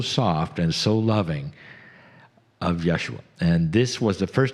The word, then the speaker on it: Yeshua: And they said, Jesus is not really the way we say our name. The way I say my name. My name is Yeshua ben Joseph of Nazareth.